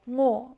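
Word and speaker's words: ངོ: So, we say first the nga, and then the name of the vowel, and then the combined sound. In the same way we say, "Chop the onions, and then sauté them until they're golden brown." We say the result, right? So, nga, na ro, ngo.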